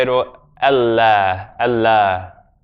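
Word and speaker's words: الله: Allah, Allah. The alif, when it's after certain letters in the Arabic alphabet, becomes like Ah, as in Allah. And in English we have the word Father.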